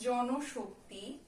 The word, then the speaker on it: জনশক্তি: তারপরে আছে জনশক্তি, এই নয়ের সঙ্গে একটা কি আছে? নয়ের সঙ্গে কিন্তু একটা আমাদের ও যোগ করা আছে, স্বরেও যোগ করা আছে, তাই এটার যে উচ্চারণ হবে জন শক্তি।